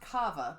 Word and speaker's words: Kawa: Kawa Coffee. Oh yeah, I drove by there the other day and they have a sign out on the road. It's actually pronounced Kava, but it's spelled Kawa.